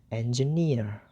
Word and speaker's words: engineer: And the third syllable, that is near, is stressed. So the syllable near is read more clear, more loud, rather than the other. So when the three syllables comes together, it's gonna be like this: engineer, engineer, engineer.